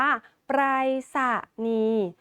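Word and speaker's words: ไปรษณีย์: ก็ จะ อ่าน ว่า ไปร สะนี ไม่ อ่าน ออก เสียง ย ยักษ์ เพราะ ว่า ย ยักษ์ ถูก เครื่อง หมาย ทันต กำกับ เอา ไว้ นั่น เอง ค่ะ ต่อ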